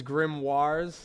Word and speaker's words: grimoire: That is grimoirs.